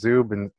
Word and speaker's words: Zub: Ukrainian descent my grandpa Ukrainians so it's it's pronounced zu band as in to band instead of subs and